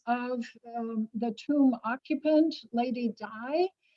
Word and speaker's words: Dai: bottom the corpse of the tomb occupant, Lady Dai, pronounced D-A-I or spelled D-A-I, and her apotheosis, her